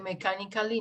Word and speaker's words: mechanically: No sé, mechanically, no. Mechanically. Exacto. Así es como se pronuncia.